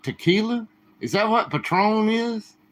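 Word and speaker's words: Patrón: cheers Patron excuse me did I call it Patron Patron with a long o it's Patron coworker gave it to you that's cool that's another thing I've never had Patron I've never had Patron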